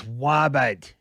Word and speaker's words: Robert: It's Wabat. It's spelled with a R, but it's pronounced Wabat.